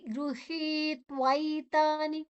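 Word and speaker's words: ಗೃಹೀತ್ವೈತಾನಿ: ವಿಸರ್ಗದ ಉಚ್ಚಾರಣೆ ಹ ಗೃಹಿ ಇಲ್ಲಿ ಗ್ರ ಅಲ್ಲ ಗೃಹಿ ಗ ಮತ್ತೆ ಋ ಗೃಹಿ ದೀರ್ಘ ಕ್ಷರ ತ ಅನ್ನ ಒಟ್ಟಿಗೆ ತಕೊಳ್ಳುವ ಗೃಹ ಗೃಹಿ ತ್ವೈತಾನಿ ತ್ವೈ ತ ಮತ್ತೆ ಐ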